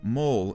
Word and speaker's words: Mole: Episode 2, Mole, is a reference to Chozen being a mole within Cobra Kai, despite the look of how it's spelled, as the E is silent.